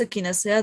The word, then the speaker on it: echinacea: Yes, echinacea, that's okay. It's a Latin word, actually.